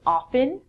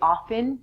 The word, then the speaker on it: often: North America people say often I'm inclined and say often it's your choice from this lesson if you want to say often the T is silent that's perfect so when